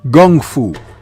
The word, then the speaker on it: Kung Fu: and he called it Gung Fu, pronouncing the K with a G, coming straight from Bruce Lee and his thick Cantonese accent.